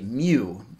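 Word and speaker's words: μ: the start of it it's pronounced actually mu kind of fun to say it's 10 to negative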